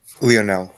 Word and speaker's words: Lionel: I have plaintiff Lionel or Lionel. Sorry, how do you pronounce it? Lionel.